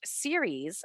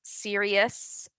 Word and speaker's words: series: And I want to point out here when you say series, be very careful that you don't say about the pronunciation, because it can come off as serious versus series.